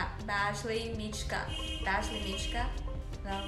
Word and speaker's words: Badgley Mischka: Badgley Mischka. Badgley Mischka? No, Badgley Mischka.